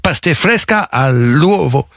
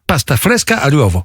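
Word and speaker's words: pasta fresca all'uovo: pâtes fraîches aux œufs je vais essayer de le prononcer en italien pas fleska àovo c'est alors j'étais bien parti je sentais que j'étais bien mal à l'ouvre pas pas fresca à l'ouvre pasta fresca à l'uovo oui alors c'est les pâtes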